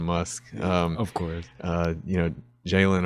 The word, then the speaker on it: Jaylon: You know, Jaylon or Jaylon rhymes with Elon.